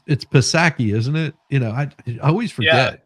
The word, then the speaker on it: Psaki: Like it's Psaki, isn't it? I always Yeah, forget. Jen I really Psaki. I do. think the P is silent.